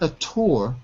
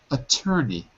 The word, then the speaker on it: attorney: Raphael barister attorney not atour but ATT attorney attorney so it's pronounced very differently than it's written written attor pronounced attorney